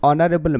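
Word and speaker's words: honorable: Question number 14 ही is dash ऑनरेबल मैन। यहां ऑनरेबल वो American English हो गया है। यू यहां लगेगा। तो यहां ओनर शब्द जो है यहां साइलेंट क्या है? एज यहां साइलेंट है।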